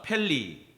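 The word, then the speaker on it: פלא: 발음이 안 좋으니까 안 따라 하시는데 히브리어로 해버릴 거야. 따라합시다. 펠리.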